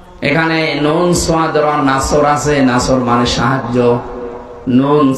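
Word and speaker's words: نصر: গেছে যে কিছুক্ষণ আগে পড়লাম না এখানে নুন নাসর আছে নাসর মানে সাহায্য নুন সিন রস যদি উচ্চারণ করে মুখটা গোল না করে স্বাভাবিকভাবে সিন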